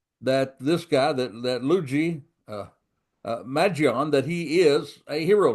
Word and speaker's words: Mangione: I've been calling him Maggiani. Well, it's not Maggiani, it's Magion.